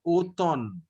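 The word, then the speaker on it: automne: pronunciation it is opon in english we pronounce the m and not n but here we pronounce the n not m so only o thon exactly means autumn finally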